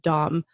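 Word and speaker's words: Domme: they're doing it personally they would also use the word Dom but it's spelt do mm II so they sound the same but they look different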